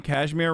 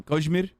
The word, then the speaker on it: Kashmir: that you're like okay you're saying cashmere wrong just use the whitewash pronunciation kojimur both are bad [ __